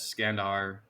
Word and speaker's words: Kandahar: So he named it Alexandria in Arachosia and suggested the name Kandahar evolved from Iskandar, pronounced as Skandar in the local dialect version.